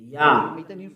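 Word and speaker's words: יה: Yah. According to the Hebrew, when you see this word, it is read Yah in Hebrew.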